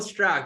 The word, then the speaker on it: Strauch: And we have his founder here, Strauch. Did I say it right? Yeah, just about. Strauch, you got it.